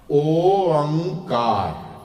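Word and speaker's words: ਓਅੰਕਾਰ: ओंकार ठीक है ओंकार nasal sound है ते ओंकार ओंकार ओंकार नहीं पढ़ना है ना गग्गा नहीं बोलना it's like reaching to that गा sound but not pronouncing it ओंकार एक ओंकार सारे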